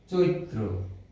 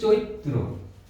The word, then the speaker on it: চৈত্র: এই চৈত্র বানানটির উচ্চারণ আমরা লিখছি, ঐকার থাকলে প্রথমে ওকার দিয়ে উচ্চারণ হবে, চো, তারপরে ই, আর যেহেতু শেষে রফলা আছে তয়ের সাথে, বাড়তি একটি ত আসবে, চৈত। তারপরে হবে তয়ে রফলা, উচ্চারণটি হবে চৈত্র।